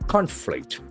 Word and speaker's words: conflict: There are two syllables, conflict. And accent falls on the first syllable.